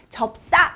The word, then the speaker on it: 접사: 접사 에 대해서 설명드릴께요 발음은 적사 라고 하지만 글로 쓸 때는 접사 라고 쓰는 거예요 이 접사는 혼자 쓰이지